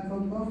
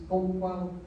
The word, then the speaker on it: Coquille: real word was, and it may have been something like Coquille, and very difficult for English speakers to pronounce, but Coquille is one of the